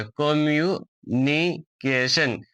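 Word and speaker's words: communication: COM, कॉम, MU, कम्यू, NINI, कम्युनि, CAK, कम्युनिके, और TION को हम लोग सन पढ़ते हैं। तो ये कंप्लीट वर्ड हो जाएगा कम्युनिकेशन, कम्युनिकेशन।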